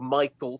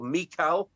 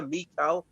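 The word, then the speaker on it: Michal: saul this woman who's not called michael she's carried she's called mikal or however you want to pronounce it i think pal got it just about right there mikal um and so david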